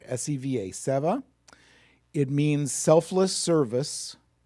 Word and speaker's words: seva: There's a Sanskrit word, seva. I think I'm pronouncing that right. S-E-V-A, seva.